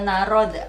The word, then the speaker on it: narod: Dia ada, itu cara bacanya Dobri gitu. Itu udah di Indonesia kan sebenarnya. Dobri, i-nya i panjang, narod kayak gitu.